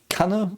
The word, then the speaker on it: Kanne: Also, it is Kanne. It's very short, like the double N. It's always a very short consonant in German if it's a double consonant. So, yeah, Kanne.